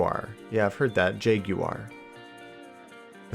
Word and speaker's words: Jaguar: do you talk about I'd say it as Jaguar Jaguar Jaguar I would say Jaguar at least that's my American pronunciation be jagwire if I was to say how the English was well I mean I've